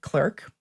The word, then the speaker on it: clerk: Instead, he winds up working as a clerk, but they would pronounce it cler.